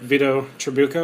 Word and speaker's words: Vito Trabucco: sure to follow veto on H Twitter at Vito truko am I pronouncing that right yeah you are good all